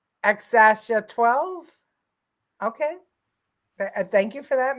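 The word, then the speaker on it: X Æ A-12: thought it was just x x as 12 the x is pronounced like the letter X and the a is pronounced Ash xasha 12 okay thank you for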